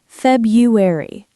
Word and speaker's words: February: February, the first R is often silent. Feb-u-ary.